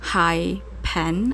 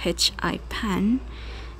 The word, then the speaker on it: HiPaint: voiceover I just realized I probably have been pronouncing this app wrong incorrectly it should have been high pen I think not h i pan so we have here